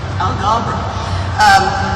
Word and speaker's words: Alghabra: Alghabra.